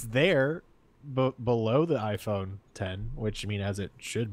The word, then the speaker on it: iPhone X: website like it it's there but below the iPhone 10 which mean as it should be you just